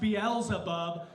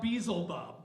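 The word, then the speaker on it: Beelzebub: but she corrects me she says babe it's pronounced beela buub not bezel buub so the next time I'm on the air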